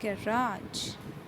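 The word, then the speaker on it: garage: लोग गैरेज बोलते हैं, कुछ लोग गैराज बोलते हैं ठीक है। जो गैराज वह प्रोनाउंसिएशन है वो अमेरिकन प्रोनाउंसिएशन है, जो गैरेज है दैट इज़ ब्रिटिश ठीक है।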